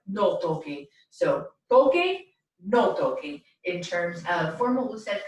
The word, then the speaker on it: toque: So our affirmative command, formal usted command for the verb tocar would be pronounced toque, and then we remember